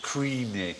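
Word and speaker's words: Cruithne: Chris knee well remembered Karissa knee is the spelling exactly right but supposedly pronounced creamy or something like that well terenia was discovered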